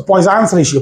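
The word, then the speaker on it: Poisson: से पॉइजन कहते हैं, बट एक्चुअल में इसका करेक्ट प्रोनाउंसिएशन अगर आप नेट पे भी चेक करोगे, इट्स पॉइजन। सो पॉइजन्स रेशियो, पॉइजन्स, इट्स a French name, France का नाम है, फ्रांस के एक व्यक्ति का।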